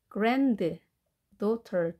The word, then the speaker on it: granddaughter: T 발음을 R 발음으로 하시고 granddaughter 두 개 합해진 단어에서 가운데 D는 발음되지 않겠습니다. granddaughter. 강세는 앞에 있습니다.